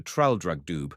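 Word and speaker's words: Traldragdubb: It contained a warrant for conducting me and my retinue to Traldrugdub, or Trildrogdrib, for it is pronounced both ways as near as I can remember, by a party of 10 horse.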